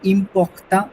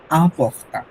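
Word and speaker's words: important: ফ্রেঞ্চরা কিন্তু ইম্পর্টেন্ট যেটাকে ওটাতে ইমপক্তা বলে না ওরা বলে আমপক্তা যদি ইম্পর্টেন্ট যে কথাটা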